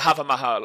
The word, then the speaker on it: Hawa Mahal: No, H A W A might be the Hawa Mahal, but they pronounce it the Hava Mahal over here. They pronounce with H A Va.